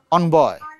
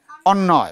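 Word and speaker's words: অন্বয়: অন্যয়, উচ্চারণটা কি হবে? অনবয়, অন্যয়, উচ্চারণটা হচ্ছে অন্যয়, মানে ব থাকবে সাইলেন্ট, বয়ের উচ্চারণটা হবে না, কি হবে? ব থাকবে সাইলেন্ট, অন্যয়।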